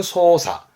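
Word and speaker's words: 操作: 이 작자 발음 기본이 사끄이지만 특이한 케이스로 발음이 사로 가는 거라서 좀 봐두셔야 됩니다. 조작은 소사.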